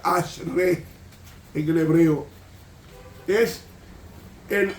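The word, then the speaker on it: אשרי: bienaventurado Quiénes son ese ese bienaventurado que se pronuncia Ash re en el hebreo es el Ash re significa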